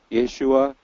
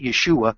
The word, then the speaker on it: Yeshua: word for salvation, and they pronounce it Yeshua without the hey.